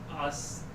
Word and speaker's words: Astaux: Astaux. I wonder, was this supposed to be like broken down into like 3 syllables sort of thing? But it's pronounced exactly how it's spelled.